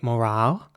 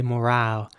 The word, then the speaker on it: morale: In British English, you would say morale with an R sound. And in American English, you would say morale with an A sound and a very rounded R.